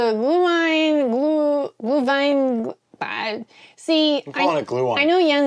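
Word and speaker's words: Glühwein: little bit horrible cuz I was doing the w rather than the V sound for the W so it's glue Vine She also asked me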